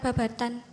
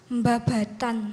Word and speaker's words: Babadan: namanya to SMPN 1 Babadan cuma orang Ponorogo ngebacanya tuh memakai hukum tajwid Hai jadi apabila nun sukun bertemu ba dibacanya iqlab Hai bacanya bukan Babatan mbabatan hai hai Hai dan